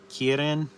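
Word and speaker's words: kirin: got this main creature a kein or in Japanese it's called a kierin a kin uh that's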